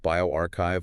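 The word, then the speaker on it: bioRxiv: It was posted on Biovu, that's pronounced bioarchchive, August 2nd, 2025.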